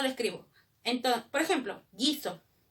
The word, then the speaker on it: guiso: Entonces, por ejemplo, guiso. ¿Cómo se escribe guiso? G-U-I-S-O, guiso. Pero dime, ¿yo escucho la U en guiso? No, entonces no lo escribo. ¿Cómo lo escribiría yo guiso en fonemas?